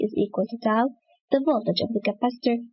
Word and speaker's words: tau: Time constant, which is denoted by this letter, pronounced tau, is defined by the time needed to perform 63% of the charging or the discharging process.